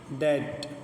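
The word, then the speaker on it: debt: ڈیٹ، قرض، بی لکھی تو ہے پر پڑھنے میں نہیں آ رہی ہے، کیوں؟ کیونکہ یہ قاعدہ بتا دیا گیا کہ ٹی سے پہلے بی کا تلفظ نہیں کیا جاتا ہے، ٹھیک ہے، سمجھ گئے آپ؟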